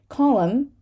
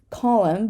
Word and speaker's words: column: autumn but autumnal autumnal column column but columnist columnist right because the N becomes part of the next syllable and we're just going to need to say it damn damn but damnation